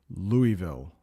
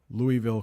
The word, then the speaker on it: Louisville: is held annually in Louisville that's how you pronounce that City Louisville Louisville Kentucky the Kentucky Derby is the oldest continuously